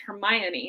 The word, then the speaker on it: Hermione: forget who and they're talking about how to pronounce her name it's Hermione and so I thought okay I'm gonna do